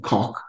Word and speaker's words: Coq: Lea and an earlier one had the unfortunate pronunciation of Coq it's a comes from the French and people